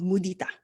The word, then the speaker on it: mudita: and the Pali word for it is called mudita. Okay, so it's spelled as Mudita, and it is actually part of the four highest qualities of the heart.